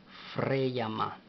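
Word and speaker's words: ፍሬያማ: Fr, F. Rey. R, E, Y. Frey. Ya. Y, A. Freya, Freyama, M-A, Freyama, Freyama.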